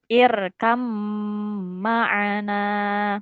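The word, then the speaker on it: ارْكَبْ مَعَنَا: Irkab bacanya itu heeh bukan irkab tapi bnya ini langsung dia langsung ke mim. Jadi bacanya irkam maana.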